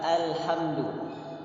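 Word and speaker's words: الحمد لله: Alhamdulillahirobbil Rohim Hai Jadi huruf hamzah jangan ditebalkan dengan Oh tidak harus sambil tersenyum ah eh burung Tipis ya Eh Alhamdulillah kemudian huruf lam sukun sebagian kita kayak membacanya alert atau tidak boleh jika membaca Ale Jadi kalau pola cukup kita tahan halus Alhamdulillah 123 Dilam itu sifatnya tawassul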